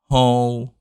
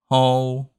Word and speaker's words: Hồ: Now combine the two elements, ha and O. We have Ho. Try again. Ho. Good. Now the hardest part is the low falling tone. This one. For this one, you drag your voice down.